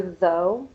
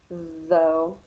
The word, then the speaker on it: though: though throw and toe for though your teeth or your tongue goes in between your teeth outside a little and you can feel your vocal cords vibrate though with throw your tongue